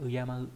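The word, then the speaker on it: 敬う: về cách đọc âm cương, đó là Uyama, đọc là Uyama mang nghĩa là kính trọng, và từ Urayamu.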